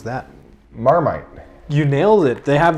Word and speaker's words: Marmite: try this guy over here how would you pronounce that marmite you nailed it they have this in australia